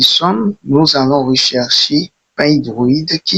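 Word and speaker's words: Pydroid: Et une fois que nous y sommes, nous allons rechercher P hydroïde qui s'écrit PY D R O I D.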